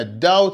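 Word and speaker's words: doubt: ما في مجال للشك كلمه داود في حرف البي والبي يكتب ولا ينطق سيبنا انت غبي ولا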